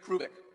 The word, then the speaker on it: Hrubec: I'm going to spell a name for you, H-R-U-B-E-C, Terry Hrubeck. The H is not pronounced, Terry Hrubeck.